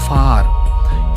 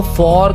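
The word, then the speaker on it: far: बाद है सो फार इसको फॉर का प्रोनाउंस करते हैं कुछ लोग फॉर नहीं ये फार है भाई फार फार का मतलब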